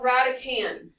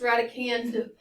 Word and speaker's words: radicand: the radical is called radican and then there's a d on the end it is not pronounced radicand that's not how you say it the D is silent it's called radican coefficient